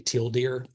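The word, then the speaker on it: tealdeer: And the reason why they named it right there is because if you tried to pronounce this, it'd be Tildeer. And so they named theirs Tildeer, just to be funny.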